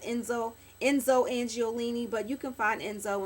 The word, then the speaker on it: Enzo Angiolini: um Enzo angiolini I never know how to pronounce that I think it's Enzo Enzo angiolini but you can find Enzo and like Macy's